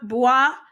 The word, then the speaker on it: boit: And il, elle, on boit with a T. Bois.